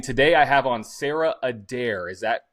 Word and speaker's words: Adair: And today I have on Sarah Adair. Is that how you pronounce that?